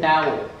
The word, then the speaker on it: dhow: How do you pronounce that? That's dhow. And dhow.